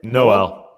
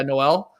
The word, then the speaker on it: Nowell: himself a career knight how do you say it noel yeah noel the wolves he plays for